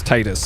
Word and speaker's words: Titus: use uh this okay called titus the the text of speech says titus so that's that is the uh the canon pronunciation okay fortify also repairs